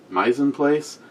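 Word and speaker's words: mise en place: the mines in place yeah pronounce that my's in place it's French for prep for cooking starts around 2:00 p.m.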